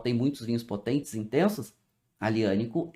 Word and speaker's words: Aglianico: Se escreve Aglianico. Se fala Aglianico.